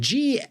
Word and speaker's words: gnome: And a gnome, spelled Gnome, gnome. Why? I guess gn is kind of like this nasal N from some weird spelling or something, but the spelling is